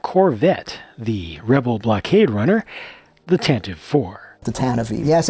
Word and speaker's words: Tantive IV: Hello everyone, this is LEGO's latest version of the Corellian Corvette, the Rebel blockade runner, the Tantive IV. The Tantive IV. Yes, it's pronounced Tantive.